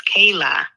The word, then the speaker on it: Kayla: said okay love you you actually pronounced my name it's Kayla oh oh my gosh